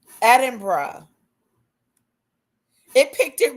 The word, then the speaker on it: Edinburgh: Locals may also use the shorter two syllable version. Atra. Edinburgh.